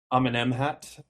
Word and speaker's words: Amenemhat: Amenemhat, I finally know how to say the name correct.